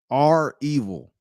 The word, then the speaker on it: REvil: um um it's like they spell it R evil it's like a big r and a Big E it's like revil but it's r evil ransomware gang lot of